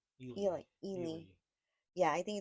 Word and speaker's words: Ely: I think it's pronounced Ely.